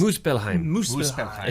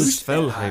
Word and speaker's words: Muspelheim: And just going through that, and the way that ties into the other, like, Muspelheim. Sorry if I pronounce these. Muspelheim. Yes. Muspelheim.